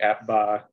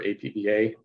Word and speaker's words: APBA: that he runs uh using the appba or apba depending on how you pronounce it uh the computer game